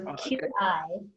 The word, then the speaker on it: qi: So Qi is pronounced Qi. Okay, I've also seen it spelled C-H-I. So it also is C-H-I, which you hear Tai Chi.